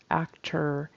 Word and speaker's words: actor: am an actor and that ending syllable needs to be actor even though it's spelled with an o r we say it with an and I'm happy that